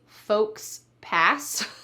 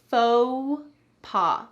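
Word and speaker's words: faux pas: PA we don't say folks pass Instead This is a French word and we're going to say it in the French style slightly English style as well we're going to say faux paw FAA take a look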